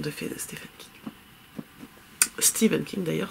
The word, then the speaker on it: Stephen: Stephen King d'ailleurs, c'est comme Stephen West, ça s'écrit Stephen mais ça se dit Stephen.